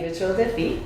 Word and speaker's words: Rituel de Fille: And just tell me, am I pronouncing that correctly? Rituel de Fille? Rituel de Fille.